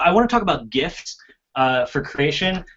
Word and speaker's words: GIF: gifts uh for creation gifts are super fun and Twitter supports gifts Facebook supports gifts uh if you pronounce them GIF you are wrong uh go home you're wrong they're pronounced GIF whatever anyway GIF is